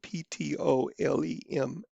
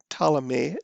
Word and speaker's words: Ptolemaic: And the P is silent, Ptolemaic, Ptolemaic system.